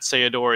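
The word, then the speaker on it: Ceodore: it was a combination you take the seh from cecil and the odor from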